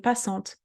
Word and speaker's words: passante: together, en, passant, and then T-E, T as a best friend vowel, is get pronounced. Passante, une passante.